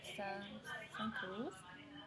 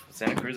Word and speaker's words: Santa Cruz: University of California, Santa Cruz.